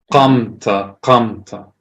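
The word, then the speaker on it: קמת: Qamta. This right here? No, it's Khuf is in the back of your throat also. It's a K made further back.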